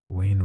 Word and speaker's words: Wayne: Wayne rhymes with again.